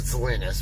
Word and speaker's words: Salina: Yeah, we pronounce it Salinas, but that's all right. I'm from and take the S off. You can go to Kansas. You're in Salina.